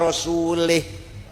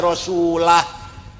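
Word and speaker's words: ورسوله: Nah ono maneh ono wong moco Quran salah. Wa annallaha barium minal musyrikina wa rasulih. Allah ora melindungi tidak melindungi orang musyrik dan tidak melindungi rasulnya. Rasulullah salah. Yang benar bacanya wa anallaha barium minal musyrikina rasulah.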